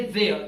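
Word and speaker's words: they're: जाना चाहेंगे दे आर दे आर को आप प्रोनाउंस करेंगे देयर जैसे कहते हैं ना देयर वहां पर सो ये है देयर अ दे are learning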